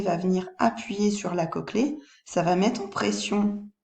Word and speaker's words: cochlée: Alors ça s'écrit cochelée, mais ça se dit bien cochlée.